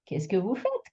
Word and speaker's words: fait: With a silent D and a silent T at fait and froid.